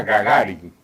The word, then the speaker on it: Gagarin: Y no era ni siquiera, hoy sé que se pronuncia Gagarin, pero la inscripción pretendía ser Gagarin, y el diminutivo Gaga.